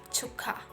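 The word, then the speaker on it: 축하: next initial consonant so the pronunciation becomes chukka this means celebration and the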